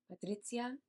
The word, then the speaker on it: Patrizia: And I also want to note that I do think her name is pronounced Patrizia, but that is going to be confusing down the line, so I'm just going to call her Patricia.